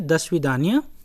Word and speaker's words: До свидания: However, the literal meaning of the svidanya is, if you can see, दो स्वीदान्या, दो स्वीदान्या, लेकिन जब प्रोनाउंस करते हैं तो बोलते हैं दस्विदान्या, दस्विदान्या, टिल वी मीट अगेन, अगर इसको लिटरली हम लोग ट्रांसलेट करें।